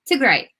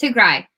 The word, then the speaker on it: Tigray: Like, even if you can't pronounce it, but Tigray, like Tigray. It's not Tigray, but yeah.